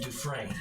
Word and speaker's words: Dufresne: I would pronounce the name Dufresne. Dufresne.